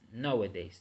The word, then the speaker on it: nowadays: So we are going to start with this word right here, nowadays, which is a three-syllable word, and the stress is in the first syllable, no, because the sound is nowadays, nor not nowadays or nowadays, is nowadays.